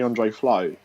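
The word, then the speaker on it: Tore André Flo: speak Norwegian go on to on the Le floor um he that's that's the Norwegian way to pronounce Tory Andre Flo who was quite a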